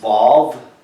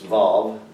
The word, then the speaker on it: Vav: This is called the Vav, like a valve, but it's Vav, V-A-V.